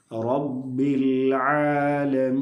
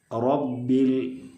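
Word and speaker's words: رَبِّ: ഫത്ഹ വരുമ്പോഴാണ് അങ്ങനെ ഉച്ചരിക്കേണ്ടത് റഹീം റഹ്മാൻ എന്നൊക്കെ ഉച്ചരിക്കുമ്പോൾ നമ്മൾ മലയാളത്തിൽ അറ പറ തറ ആ ഒരു ഉച്ചാരണം അല്ല അറബിയിലെ റക്കുള്ളത് അത് ഒരു മുഴക്കത്തിൽ റാവിന്റെ മധ്യഭാഗം അണ്ണാക്കിലേക്ക് ഉയരുന്ന സമയത്താണ് ആ ഒരു മുഴക്കം വരുന്നത് ആ ഒരു കനം അക്ഷരത്തിന് വരുന്നത് റബ്ബിൽ റബ്ബി റബ്ബി അല്ല റബ്ബി റബ്ബി റബ്ബി രണ്ടും വ്യത്യാസമുണ്ട് റബ്ബി പിന്നെ വേറൊന്ന് ബാ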